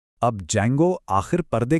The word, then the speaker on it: Django: इसका प्रोन्सिएशन है जेंगो। इसमें डी साइलेंट होता है।